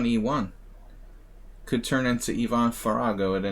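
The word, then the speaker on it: Faragó: farago yvonne farago yvonne it's so hard for me to say farago it's just not a sound i'm used to making i always mispronounce his name fargo ivan likes rookie one and the queen's indian fargo it's just that a sound is so weird for me as a as an american english speaker ah i go far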